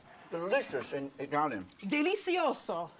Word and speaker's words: delizioso: Delicioso.